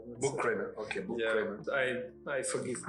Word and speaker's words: Buchkremer: It's like H is silent, as I always say. Like so, you say Buchkremer. Buchkremer.